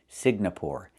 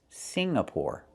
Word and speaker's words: Singapore: I cannot pronounce the country Signapore. It's not Singapore. It's Singapore. The NG makes a sound M in your nose. Sing like when you sing a song together. Singapore, not Signapore, but Singapore.